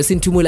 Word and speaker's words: Sinthumele: By the way, Sinthumele.